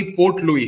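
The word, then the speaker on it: Port Louis: Mauritius वे देश है जिसकी राजधानी पोर्ट लुई, इसको इंग्लिश में ऐसे लिखते हैं, पोर्ट LOUIS, ऐसे साइलेंट, को गलियों के नाम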